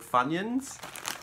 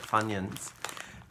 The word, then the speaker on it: Funyuns: These ones are called Funyuns or Funyuns. I think you pronounce it Funyuns.